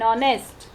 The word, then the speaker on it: honest: When the consonant H is silent, then also we have to go.